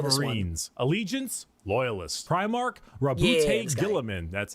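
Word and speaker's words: Guilliman: Primark Rabbout Gillaman.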